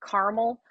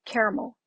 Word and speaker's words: caramel: So like about, if you pronounce, a lot of Americans will say caramel, but if you say caramel, that slight sound. So it's not like caramel.